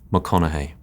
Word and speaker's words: McConaughey: Matthew McConnA.